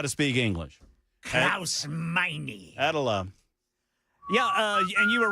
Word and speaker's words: Meine: Oh, Meine.